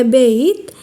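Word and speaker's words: בית: ആണ് ആ എന്ന അക്ഷരമുണ്ട് രണ്ടാമത്തെ അക്ഷരമായ ബെയ്ത്ത് ഇതിൻറെ വില രണ്ട് ശബ്ദം ബ വ മൂന്നാമത്തെ അക്ഷരമായ ഗിമ്മേൽ ഇതിൻറെ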